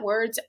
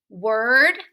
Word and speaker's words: word: what they sound like for example word bird and herd all rhyme a lot of times people try to say them differently like word beard and haired that's not correct so